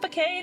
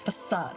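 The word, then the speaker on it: façade: that you were human is it fade or is it facade can't I forget every this is one of those words that I like constantly forget the pronunciation of forade thank you thanks guys no I collapsed because zero junor turned off the power to my body again it's facade okay yeah thank you he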